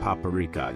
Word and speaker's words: paprika: This isn't paprika, you hear? It's paprika. The emphasis is on the second syllable, paprika.